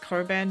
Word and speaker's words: Cockburn: There's a Cockburn Road as well. People insist it's pronounced Coburn, but I call bullshit.